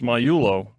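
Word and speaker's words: Miglio: say your last name there's no g in it mulio first of all he is silent it's myo let me just I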